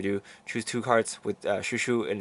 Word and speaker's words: ChouChou: here with the shushu Deck Profile it is pronounced shushu and not Choo um the Katakana did say so but anyway